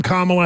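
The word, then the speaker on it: Kamala: comma in that ad she introduced herself as I'm kamla Harris I guess she would be the authority on that right she's the ultimate Authority so on all you people to say I'm pronouncing it wrong I'm sticking with my initial pronunciation comma uh okay so there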